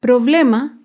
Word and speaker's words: problema: es la palabra problema el problema se acentúa en la penúltima sílaba pero no lleva tilde porque termina en vocal problema acá vemos otro